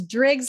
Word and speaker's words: Driggs: pronounce my name correctly it's Driggs like Driggs Idaho oh good Deborah Driggs